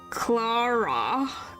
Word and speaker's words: Clara: Clara is how it's said.